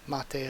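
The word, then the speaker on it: 待て: In the original Japanese version, stay is mate, pronounced mate of course.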